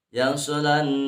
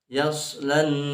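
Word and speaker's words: يَصْلَى: Dibaca, banyak yang bacanya yasalan narul kubra, padahal itu hamas. Yaslan narul kubra, jangan yasalan narul, itu harus ditahan.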